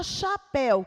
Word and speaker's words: chapéu: e também seis fonemas na palavra chapéu quantas letras uma duas três quatro cinco seis letras mas quantos poemas vejam só aqui que o cnh eles se unem formando apenas um fonema então nessa palavra nós temos aqui seis letras e 5 fonemas então está puto pedindo